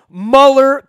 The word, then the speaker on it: Muller: I keep wanting to call him Mueller because it's spelled that way.